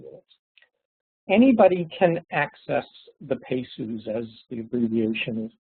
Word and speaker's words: PEHSU: environmental health specialty is anybody can access the pesus as the abbreviation is pronounced pediatricians Public Health officials School Personnel parents